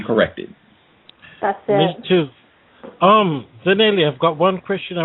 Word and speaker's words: Zanele: To Gus, to Justice, and Zanele. Have I pronounced your name right? Yeah, that's fine.